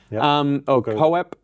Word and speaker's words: Koepp: I don't know, I got to look into how to pronounce his name. Kopp, I'm going to say is Koepp. Anyway, Koepp.